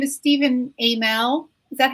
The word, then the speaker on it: Stephen Amell: creatures and stuff michelle says his name is stephen amell is that how i'm going to talk about